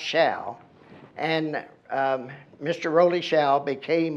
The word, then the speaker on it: Show: Waddy employed one nicknamed Rollie, R-O-L-L-I-E, he spelled it, Shaw, spelled like show, S-H-O-W, but pronounced Shaw.